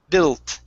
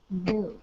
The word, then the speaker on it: built: last one here is built instead of bu bu with an oo sound it's an L Bill built built okay one more time